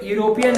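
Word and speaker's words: European: Create हो रही होगी, यूरोपियन तो ई से स्टार्ट है, और ई हमें पता है कि वॉवल है, लेकिन वही चीज है, यहाँ पे यूरोपियन है, इसको जब हम प्रोनाउंस करते हैं तो यहाँ पे किसका साउंड आता है? वाई का।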